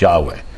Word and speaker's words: Yahweh: yhw H was Yahweh so I pronounced in English is Yahweh I don't want the